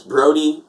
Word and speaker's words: Brode: If you see it written, it's often mispronounced. If you hear it, you'll often misspell it. It's Brody, Brode.